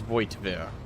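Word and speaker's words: Voigtvir: I wasn't too far off with like mine, which was Voigtveer. It's Voigtveer. You still pronounce that T.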